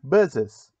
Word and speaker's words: buses: A pronúncia seria algo do tipo bus. Então, em vez de você ficar soprando muito, coloque o ES e aí faça a pronúncia correta.